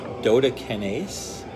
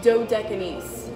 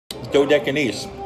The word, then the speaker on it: Dodecanese: at Yanni's Greek cuisine this is at 514 dota kinase Dodecanese dor de kinase guys I don't speak Greek I don't know how to pronounce that 514 DotA kinase Boulevard tarpon springs